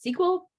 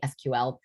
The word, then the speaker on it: SQL: do you pronounce it sequel or sql and and the answer really is both and you'll you'll hear it both ways but if you want the official it's actually sql is the official one